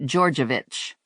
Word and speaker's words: Georgievich: The perp's name is pronounced Georgievich. It doesn't look like it sounds, Lula said. It's not one of those phonetic names, and I don't see it being a stellar name for a vampire.